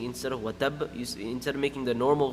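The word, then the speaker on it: وَتَبَّ: At the end of the ayah, you'll see a shadda on the ba. Watab. Right? It's watabba if you connect it. No, if you're stopping, you don't pronounce it. If you're continuing, then you say watabba. If you're watabbama, if you're connecting it.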